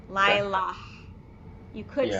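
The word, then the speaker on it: לילה: You've got a hey at the end because and you don't pronounce the hey at the end after an ah sound because it's similar to the yud.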